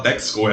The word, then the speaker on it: Texaco: Ninguém fala Texaco, é Texaco.